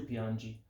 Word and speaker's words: piangi: g lui lei pianje remember that geo becomes go and the gi and ge becomes g and j eo piango tu piangi lui lei pianje remember